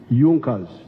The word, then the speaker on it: Junkers: However, there was a strong business group in Prussia known as Junas. It is written Junkers, but they pronounced pronounce it Junkers.